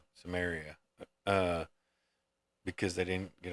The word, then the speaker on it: Samaria: Samaria.